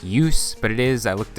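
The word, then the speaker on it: Djoos: the name of Christian Use. Don't ask me how a name that starts with DJ is pronounced Use, but it is, I looked it up. Use has 51 points in 56 games this season with the Hershey Bears.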